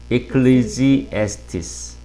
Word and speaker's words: Ecclesiastes: 제일 어려운 성경 발음 중에 하나 발음인 것 같아요. 이거하고 전도서도 어려워요. 전도서. 뭔지 아세요? 영어로 혹시? Ecclesiastes.